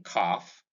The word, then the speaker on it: calf: It occurs in the AL in this column, in calf, in half, in palm, in calm, in psalm. The L in each of these words in this column is silent.